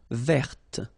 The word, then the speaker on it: verte: Feminine form, verte. So listen carefully. I don't say te, but it's t. Verte. Verte. Okay, so as usual, this final E only gives you the possibility to pronounce this t.